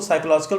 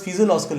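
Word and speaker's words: physiological: कई लोग उसको साइकोलॉजिकल प्रोनाउंस करते हैं, लेकिन साइकोलॉजिकल नहीं, this known as फिजियोलॉजिकल needs.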